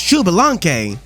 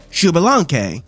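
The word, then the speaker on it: Xbalanque: And this guy's name is pronounced Shubalanke. Shubalanke.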